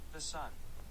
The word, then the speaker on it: Thesan: Anyway, let me look up how to pronounce his name. The sun. It's not the sun. Okay, I looked it up and it says that you pronounce it the sun. I'm not going to. His name is Thesan, okay?